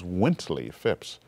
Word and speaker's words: Wintley Phipps: name was again I said My name is Wintley Fipps.